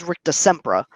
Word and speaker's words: Rictusempra: that Tim said rictusempra the correct pronunciation that the the spell is rictusempra we looked up the movie clip we pulled up the clip he pulled up we looked up the spell everything like that and in the clip specifically there is a lot of passion and English accent that it does sound a little bit like Shemp rah so is a close